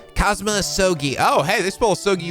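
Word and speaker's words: Kazuma Asogi: it's my best friend's name not mine it's pronounced cosma sogi oh hey this bowl soggy without uh the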